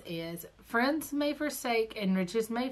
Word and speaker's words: Firens: I say Friends, but it's spelled Firens.